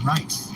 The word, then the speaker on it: Rice: Rice. Oh, my bad. There's no way to misconstrue that as Ms. Riz. Riz. It's ICE. Ice. Or rice.